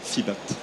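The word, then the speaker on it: FEEBAT: ce sujet ou alors fibat ça sécrit f2e bat voilà fibat on prononce à l'anglaise quoi voilà merci avez-vous des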